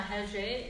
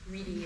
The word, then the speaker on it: Rede: Pra Dormir na Rede is the Brazilian pronunciation, even though it looks like Reedy or something like that.